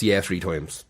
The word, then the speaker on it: Yeah 3X: It's actually pronounced Yeah 3 Times and he wrote 3X.